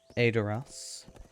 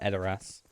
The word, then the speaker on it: Edoras: So I think I need to go to Edoras, which is apparently the way it's pronounced. I call it Edoras, but the game pronounce it Edoras, even though it's E, not A, but sure.